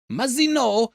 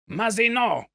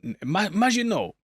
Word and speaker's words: Mazino: Sorry, Majino. Mazino. Butchered it last time and thank you for your comments. Uh, but I am very excited to learn Mororrow's backstory. Mazino. Majinto. No, not Majino. He's half man, half machine.